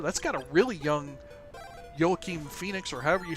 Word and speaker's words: Joaquin: Joaquin Phoenix. I thought that's how I pronounce it, but I tried to say it the other way because I've heard people say it, but Weenie. No, it's not Weenie.